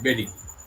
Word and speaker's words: bury: অধিকাংশ সময় হয় না, কিন্তু কিছু কিছু সময় হয়, যেমন BURY বেরি, BERRY বেরি, একই উচ্চারণ, আলাদা বানান।